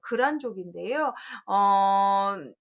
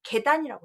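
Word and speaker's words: 契丹: 자, 붉은달자를 또 안이라고 읽어서 글안족인데요. 그 금나라에 망해서 부족 이름 글, 이걸 읽기 문제 나올 때 거의 다 계단이라고 쓰면 다 틀려버리죠. 글안이라고 읽고, 부족 이름이기 때문에 고유한 부족 이름이어서 그렇게 살려주게 되고 있고요.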